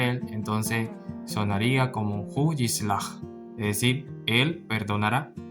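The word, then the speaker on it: יסלח: Entonces aquí se pronuncia esta palabra como yislach, que significa él perdonará. Y si lo acompañamos con el pronombre hu, que significa él, entonces sonaría como hu yislach, es decir, él perdonará.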